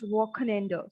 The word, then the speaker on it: Wochenende: So for weekend, the word is Wochenende. So the article is das or Wochen and then ender. So we have double en two times. Wochen ender. Wochen ender.